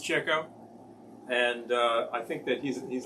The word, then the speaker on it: Chico: Pronounced Chico.